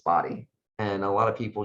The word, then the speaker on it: Bodie: pronounced body or body it's spelled b-o-d-i-e it's body and a lot of